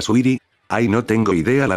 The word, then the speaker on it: Saweetie: será de la rapera sawriri se pronuncia suiri Ay no tengo idea